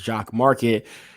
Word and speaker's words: Jock MKT: they like you know you pronounce it as jock market that's the way that they're looking at it and um you have